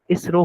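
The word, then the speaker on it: ISRO: फिर जैसे हो गया इसरो हो गया हम आई एस आर ओ नहीं बोलते हम उसको इसरो बोलते हैं ठीक है तो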